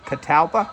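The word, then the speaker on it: Catalpa: It's a northern catapa, I think. Katalpa, that's how you say it.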